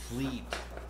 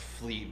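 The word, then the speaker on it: Vliet: so with the anatomy fleet that's how you pronounce it okay what's that uh the the last name i butchered it's pronounced fleet but it's spelled as v-l-i-e-t that's why i said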